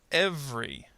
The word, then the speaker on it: every: Every. Every. Again, notice the schwa plus R here kind of disappears.